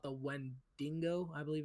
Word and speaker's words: Wendigo: the Native American like mythology creature called the Wendigo, I believe it's pronounced. Wendigo. Yes. Mhm. Yeah, Wendigo.